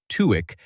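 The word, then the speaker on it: TÜİK: A former head of TUIK, that's Turkey's Statistical Institute, pronounced Tweek, has publicly stated that the agency underreports inflation.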